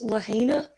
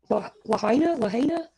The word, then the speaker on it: Lahaina: Okay, so I hope I pronounce it right. I believe it's Lahaina. Lahaina.